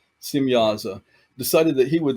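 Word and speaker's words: Semjaza: So this watcher by the name of Samyaza or Simyaza, spelled with a J, but the J is pronounced as a Y. Simyaza decided that he would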